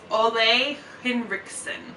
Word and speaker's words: Ole Henriksen: Ole Henriksen.